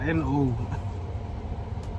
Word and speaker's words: Brno: How do you pronounce Brno?